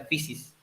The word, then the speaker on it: physis: Se escribe physis con ph, pero se pronuncia physis.